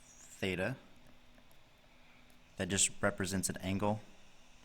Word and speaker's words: theta: The first thing, this symbol right here is pronounced theta.